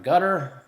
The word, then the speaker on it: Qatar: big protest this is a Qatar gutter it's pronounced and they're protesting over